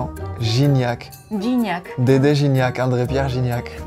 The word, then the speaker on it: Gignac: Un poco de pronunciación para que practiquen. Gignac.